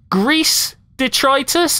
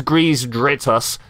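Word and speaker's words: Greez Dritus: And I'm just looking at his name, going, "Grease Detritus." Is that kind of something they've worked? That's not how that is pronounced. It's Grease Dritus.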